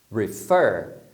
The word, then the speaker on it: refer: Refer, que é se referir, tá vendo? O final é mais forte, refer.